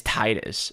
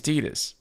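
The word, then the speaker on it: Tidus: there are just like it's not t as Titus and I'm like dude I didn't make the game but if I did I probably would have pronounced it Titus to but if I was the voice director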